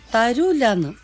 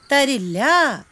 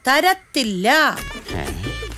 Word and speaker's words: തരില്ല: ഭാര്യയ്ക്ക് എന്റെ അമ്മയോടുള്ള സ്നേഹം തരൂലെന്ന് അങ്ങനെയല്ല പറയേണ്ടത് തരില്ല അല്ലെങ്കിൽ തരത്തില്ല തരത്തില്ല അങ്ങനെ വ്യക്തമായിരിക്കണം ഉച്ചാരണം കേട്ടോ ഇനി ചോദിക്കുമ്പോ അങ്ങനെ പറയണേ